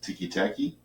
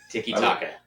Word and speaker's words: tiki-taka: It's tiki-taki? No. Now I'm going to be mad. Tiki-taka. Tiki-taka. That's what it is.